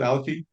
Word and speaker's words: Alaki: our guest today Matt Parker he is with alaki is that correct Matt is that how you pronounce it alaki yeah correct that's great well good to have